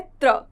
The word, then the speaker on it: त्र: फिर आता है त्र, त और र को जोड़ के बनता है त्र।